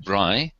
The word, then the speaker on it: braai: The cherished braai, which rhymes with I.